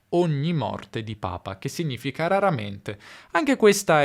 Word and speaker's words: papa: E quindi possiamo dire Giovanni va al cinema ogni morte di papa. Raramente. Attenzione all'accento. Papa, non papà, ok?